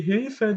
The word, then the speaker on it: Hilfe: Ja, die Hilfe, da wird das auch eher kurz ausgesprochen.